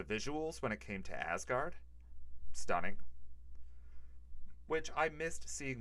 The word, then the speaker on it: Asgard: in asgard um the parts where we were pronounced asgard no asgard oh okay um the parts where we were